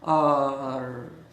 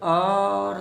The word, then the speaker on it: hour: एच तो silent है, एच नहीं बोलता, तो फिर आवर होता है। हाँ, less than half an आवर, आवर बोला जा सकता है। लेकिन अच्छी इंग्लिश में लोग आवर ना बोलकर आर बोलते हैं।